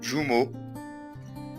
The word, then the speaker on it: jumeaux: تنطق E les deux jumeaux Patrick et Frédéric. طيب كلمة jumeaux ال EAU تنطق O jumeaux Patrick et Frédéric.